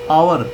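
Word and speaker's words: hour: यहां पर आवर एच ओ यू आर एच जो है एक कसोनेंट है लेकिन कसोनेंट एच आ रहा है। यहां पर एस साइलेंट है आवर बोला जा रहा है। ए की साउंड जो कि वोवेल की साउंड है।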